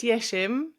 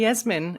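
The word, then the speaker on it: Yeşim: It's actually pronounced Yesim, but Yesim. yes, but I'd be very, very rich indeed if I had a penny for every time somebody called me Yasmin.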